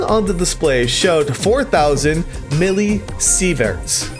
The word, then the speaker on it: millisieverts: The reading on the display showed 4,000 millisieverts. Is that how you say it? I know it's milli now.